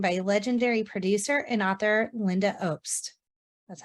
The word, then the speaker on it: Lynda Obst: This week on the No More Late Fees podcast, Danielle and I are joined by legendary producer and author Lynda Obst.